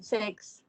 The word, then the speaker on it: sechs: don't know, sechs. Sechs und siebzig. So that is Zex. Z sound. S has Z sound.